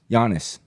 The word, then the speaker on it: Giannis: name again one more time and he goes Giannis no way Giannis on him a Tempo you're